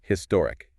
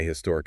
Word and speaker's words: historic: on the speaker's accent they might pronounce the h sound or they might drop it if they drop the